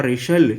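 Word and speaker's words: wrestle: Command मिलने पर, बाबा रेशल, कि बाबा कुश्ती करो, बाबा रेशल करो, कुश्ती करो, डब्ल्यू साइलेंट है इसमें, रेशल बोलेंगे, बाबा रेशल, बाबा कुश्ती करो, बाबा बॉक्स, कि बाबा बॉक्सिंग करो।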